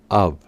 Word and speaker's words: of: en cuenta es que cuando la o solo sea acompañada por una F su pronunciación será up up es decir que la o del comienzo tiene un sonido tipo o a mientras que la f del final toma un sonido tipo p up con esto claro la